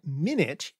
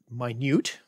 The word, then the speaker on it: minute: So the word minute is related to the word minute, spelled the same, pronounced differently in English, but they come from the same word for once.